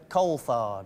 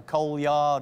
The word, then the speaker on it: Coulthard: How do you pronounce your name? It's Coulthard.